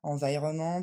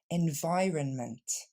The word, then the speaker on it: environment: pose aussi souvent problème on ne va donc pas dire environment ou environnement mais bien environment l'accent tombe sur le son la deuxième syllabe et on décompose lentement ça nous donne en